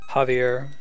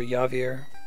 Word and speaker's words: Javier: made more confusing by J being pronounced like a H sound in Spanish. Javier as opposed to Javier or Yavier.